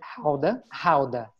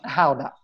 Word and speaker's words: Gouda: Well, by the way, they pronounce it Gouda, not Gouda.